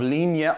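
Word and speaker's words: Linie: gonna do an ounce and a quarter of lean yet aquavit that's how you pronounce it and you know how I know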